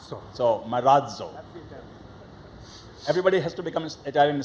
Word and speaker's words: Marazzo: z z o and we have a D sound coming just before Z so Maro everybody has to become